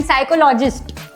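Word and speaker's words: psychologist: -10 okay yes पी is silent and साइकोलॉजिस्ट कितना तो यार कितना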